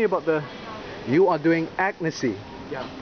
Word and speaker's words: Agnesi: see who is very agnes okay don't say asian this is not asian i've heard some people call it asian this is agnes ravioli penne pasta fettuccine